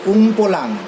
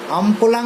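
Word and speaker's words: Umpolung: কার্বনের polarity change হয়ে গেছে না, প্লাস মাইনাস থেকে মাইনাস প্লাস হয়ে গেছে, এটাকে বলা হয় উমপোলাং। বানানটা একটু দেখে নিতে হবে, আমপোলাং বা উমপোলাং বলে কথাটাকে।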